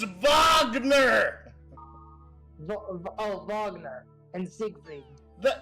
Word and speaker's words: Wagner: rain Wagner Sig it's vogner oh vogner and Sig the it's German it's vogner okay okay geez sorry